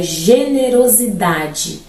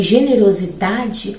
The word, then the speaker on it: generosidade: de Generoso mais idade segundo ele em generosidade o dá é a sílaba tônica temos a sílaba tônica logo paroxítona porque a penúltima sílaba é tônica E aí diz que essa sílaba vai ser tônica Ok só que teremos uma outra sílaba que também traz um pouquinho ali de barulhinho para o nosso ouvido que vai ser o Ro então o RO será a nossa sílaba subtônica ali generosidade interessante Eh agora